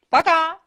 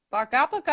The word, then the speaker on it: пока: Пока. Bye-bye. Пока. Repeat that. Пока-пока.